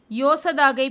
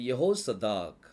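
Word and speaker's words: יהוצדק: இந்த பெயரை நல்லா கவனிங்க தமிழ்ல யோசதாக் அப்படின்னு சொல்லி கொடுக்கப்பட்டிருக்குது இங்கிலீஷ்ல ஜெகோசதாக் கொடுக்கப்பட்டிருக்குது எபிரேய மொழியில யெகோசதாக் யெகோசதாக்ல மொத்தம் ஆறு எழுத்துக்கள்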